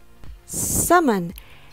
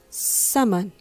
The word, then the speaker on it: summon: letter R sound seron summon has the letter u sound uh summon now the second syllable